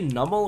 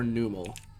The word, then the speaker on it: Numel: I think I've asked this before, but do y'all say Nummel or Numel? Because growing up, I always said Numel. But as I've gotten more into like watching Pokemon content and stuff, I hear people pronounce it Nummel. And I'm like, is it possible? Could I have been wrong? Hell no, Numel. See, that's what I think.